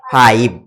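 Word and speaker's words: five: কিন্তু এই ভি এর পরে যদি একটা ই দেই, তখন হ্যাঁ আই এর পরে ভি আছে কনসোনেন্ট, তারপরে ই দিলাম, এখন আই এর উচ্চারণটা কেমন হবে? ফাইভ। আই এর উচ্চারণ আই এর মতো হয়ে গেল।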